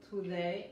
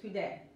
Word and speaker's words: today: La D en inglés suena más como la T, en español la T que la D, así que tiene que tener cuidado, no es today, es today, ok, y se escucha, siempre